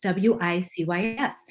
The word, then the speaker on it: WiCyS: We often go by our acronym WiCyS, W-I-C-Y-S, and we pronounce it WiCyS, like we sisters, because that's what we are.